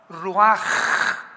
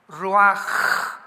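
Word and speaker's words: רוח: que significa espíritu y se pronuncia la ch en el hebreo como j. Ruaj, roaj.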